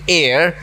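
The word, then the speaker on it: heir: करा the stunted unlucky एयर इस word को एयर प्रोनाउंस किया जाता है और ट्विस्टेड बोनस मींस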